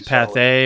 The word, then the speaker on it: Pathé: PATHE with an accent over the so E. it's Pathé or Anyway, these were these were newsreel.